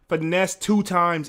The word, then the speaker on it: Finesse2Tymes: times man I mean finesse two times is the exact way to say his name right okay I don't want to butcher his name because to be honest I'm Gonna Keep It 100.